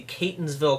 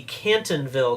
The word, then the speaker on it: Catonsville: city name all year first I was calling it the canton ville cartel and then I remembered thinking I was really smart and added the s and made it the